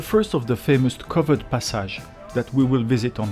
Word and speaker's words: passage: of these old covered passages that offer a glimpse into the city's bygone era. By the way, I hope you don't mind me pronouncing it the French way, passage, instead of passage.